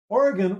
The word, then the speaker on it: Origen: Anyway, I want to talk about a gentleman by the name of Origen, which his name is spelled like origin, which is really confusing.